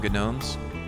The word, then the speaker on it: gnome: Who came up with silent letters? Why is there a G in the front of a gnome?